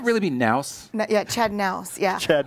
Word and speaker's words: Knaus: Yeah, Chad Knaus. Yeah. Chad Knaus. The K is silent.